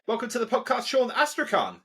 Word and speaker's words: Astrakhan: to the podcast Sean asan is that how you say your name you nailed it the K is silent but I'm so excited